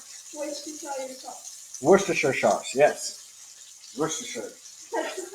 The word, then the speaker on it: Worcestershire: That and I can't pronounce it, so I feel stupid. What did you say? Worcestershire sauce. Worcestershire sauce, yes. Worcestershire.